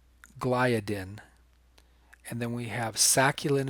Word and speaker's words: gliadin: I keep pronouncing that wrong. I'm used to saying it gliadin. It's gliadin.